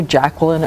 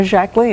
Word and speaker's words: Jacqueline: that's right you know we called her Jacqueline or Jackie but her name my shaklee and that's how she pronounced her name that's what she said